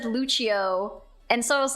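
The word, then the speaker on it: Lúcio: somebody was like said Lucho and so I was like uh yeah I think his name is actually pronounce Lucio and they're like uh no dumbass his name is Lucho it's Brazilian and then it just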